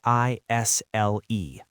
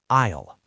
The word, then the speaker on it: aisle: A I S L E. Isle. Yes. Thank you for spelling that. The S is silent.